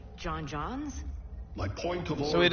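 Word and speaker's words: J'onn J'onzz: Like John Johns? My point of so it is pronounced John Johns, because in I know his human name is John Jones.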